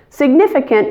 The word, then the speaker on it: significant: You just need to make sure that you stress the middle syllable, significant, and relax all the I's in the word. They should all sound like I, significant. Now let's do the whole expression, statistically significant.